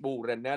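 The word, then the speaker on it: bordene: Cái âm d nó câm cho nên mình sẽ đọc là bù rè nè.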